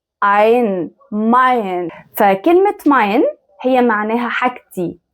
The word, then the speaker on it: mein: A E لما يجوا مع بعض بيتنطقوا I. زي كلمة ايه؟ زي كلمة mein. ein mein.